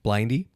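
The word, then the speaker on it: Blinde: They were worn by the Matrix characters, are from the label, I think it's pronounced Blindy, with an E on the end, which prides itself on producing handmade glasses.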